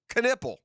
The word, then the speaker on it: Knipple: often associated with basketball player Con Knipple, is pronounced Knipple.